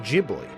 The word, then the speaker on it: Ghibli: It's Studio Ghibli, but pronounced Jibli. Yeah, that's what I thought. But then, but then Truth said hard G. In Japanese, it's a soft G, but in America, you're allowed to be correct.